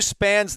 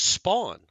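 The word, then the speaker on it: Spann: be spam yeah well who looks at s p a n n and thinks spawn like spawn I don't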